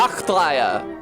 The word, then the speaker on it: Nachtreihe: Nachtreihe! Yay! It was hard to remember because Reihe rhymes with Gaia, so they blended together in my head.